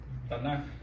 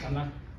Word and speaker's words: Tanaj: Tanaj. Entonces, si usted dice, vamos a hablar del Tanaj, entonces ya, ok, ya saben que están hablando de los escritos antiguos. Entonces, pero ¿qué? ¿Tanaj o Tanaj? Tanaj, así con.